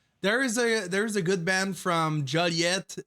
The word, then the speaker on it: Joliet: It's like Juliet, but you just put an O instead of U.